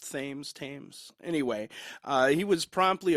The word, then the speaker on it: Thames: Bridge into the River Thames that's how it's pronounced right the Thames Thames tames anyway uh he was promptly arrested after he